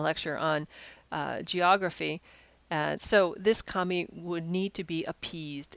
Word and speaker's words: kami: And the reason why paper is used is because the word in Japanese for paper is a homonym for the word for deity. They're both pronounced kami.